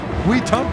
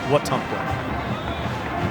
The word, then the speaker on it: Wetumpka: Wetumpka is how you pronounce it correctly. That is, yes. Right. Very important. Not Wetumpka.